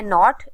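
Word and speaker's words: knot: sound नहीं आ रहा next है नॉट इसमें भी के साइलेंट है क्योंकि के का साउंड नहीं आ रहा नेक्स्ट है कैंपेन इसमें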